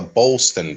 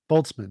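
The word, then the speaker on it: Boltzmann: theory so did you say it was a Bolston brain boltzman the word you the word you were imagining B pronunciation because I've been boltzman just look up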